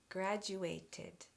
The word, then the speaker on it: graduated: This also adds a syllable. GraduatID, graduatID.